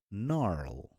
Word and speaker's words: gnarl: not knee, it's a knee, and knock, and gnarl. Okay? So these are the examples for it. Now we have rule number 11.